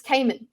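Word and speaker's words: Camon: I mean, in the audiobook, it's Kammen.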